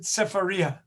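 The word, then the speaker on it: Sefaria: if you want um you can also get it on safaria uh or some people pronounce it cepharia s-e-f-a-r-i-a and then just type in weekly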